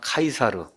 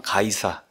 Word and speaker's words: 카이사르: 그래서 지금 요새 아이들 그 영어식 발음을 하면 카이사르 그다음에 옛날 성경에 그걸다면 가이사 여러분 아시죠 가이사 시저 카이사르 율리우스 카이사르 유명한